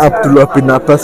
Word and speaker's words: Abdullah bin Abbas: Abdullah bin Al Abbas. Abdullah. Ya, begitulah pokoknya ya. Bahasa Arab saya masih minim. Oke, ya. Ya. Ya. Ya. Kita lanjutkan perjalanan kita pemirsa ya. Bacanya Abdullah bin Abbas ya pemirsa.